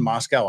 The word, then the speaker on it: Moscow: the Russians too long forgot how to pronounce Moscow that's how we pronounce it out there in Utah and Idaho is Moscow Idaho not Moscow that's a that's that's